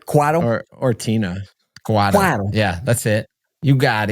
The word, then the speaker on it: Cuatto: Cuatto.